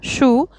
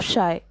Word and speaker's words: Scheu: did people mispronounce answer people mispronounced the entire name Shai commonly saying it as Shu insteed of shy question number six who